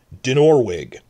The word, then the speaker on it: Dinorwig: Dinorwig Quarry, where they built Harrenhal, stresses on the second syllable.